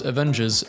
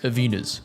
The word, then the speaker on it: Avengers: the biggest trending online discussion why Gen X's pronounce Avengers Avenas.